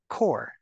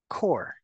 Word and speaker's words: corps: the S corpse corpse the second word you do not pronounce neither the P or the S just c o r core core but here the rule